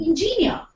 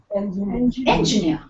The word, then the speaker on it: engineer: right my dear friends most of us we end up seeing engor whereas the correct pronunciation of this word is engineer now this is the